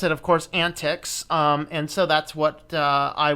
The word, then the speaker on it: antiX: have a look at an TX or excuse me is pronounced antics according to the gentleman on the video here and being said this